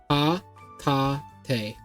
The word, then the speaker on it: Hatate: Her name is Hatia. Hata. Ah, that's a hard name to pronounce. Ha-ta-te. Hatate.